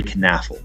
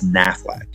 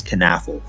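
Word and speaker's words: Knafelc: of tight end Gary canf in the earlier parts of my Packers documentary I was saying it as nafac however that is incorrect I reached out to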